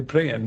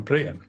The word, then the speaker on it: Brian: For non-Danes, Brian is spelled Brian, but his name is actually pronounced 'Brienne', so I'm going to call him 'Brienne'. When you're out and about, do people call you 'Brienne' or do they call you Brian?